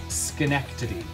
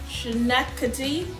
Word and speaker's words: Schenectady: Schenectady. Schenectady. Schenectady. Schenectady? Schenectady, New York.